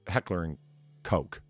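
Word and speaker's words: Heckler & Koch: oh dude shut up just say H&K it it's Heckler and Coke in case you're curious far but it's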